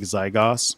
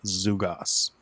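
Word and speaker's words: ζυγός: the Greek word is zugos it's spelled like this spelled like zygos but it's pronounced zugos and this is the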